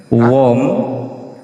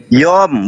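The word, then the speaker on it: יום: Waikra Elohim larakia samayim waihi erep waihi boker wom sene. Yom, bukan wom. Yom.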